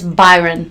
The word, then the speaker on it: Byron: It's Byron.